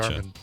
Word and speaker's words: Jarman: Jarman. All right, like GIF and JIF. It's obvious. It's got a J.